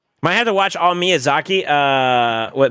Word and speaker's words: Miyazaki: Uh, double check your spelling on Miss Yaki. Is that Is that how you say it? Are you talking about like Spirited Away and stuff? I think you meant to say Miyazaki.